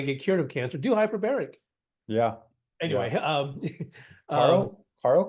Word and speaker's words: hyperbaric: It's not hyperbolic, it's hyperbaric. Hyperbaric Hyperbaric. oxygen therapy. Yeah. It's for If you that. don't want Right. cancer and if you want to get cured of cancer, do hyperbaric.